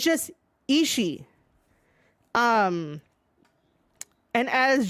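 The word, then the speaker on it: Ishii: way it is not isi e you do not pronounce that second I it's just isi um and as G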